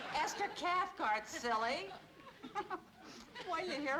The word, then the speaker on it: Cathcart: Mr privilege yes Esther Kath rhymes with heart Esther Cathcart silly why did you